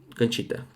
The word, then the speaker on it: Conchita: Conchita.